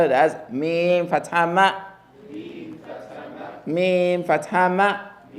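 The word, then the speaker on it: ميم: There's no heaviness to the meme, therefore the fatha on the meme gets to be light. Ma, not mo, but ma. Ma. Mim fatha ma.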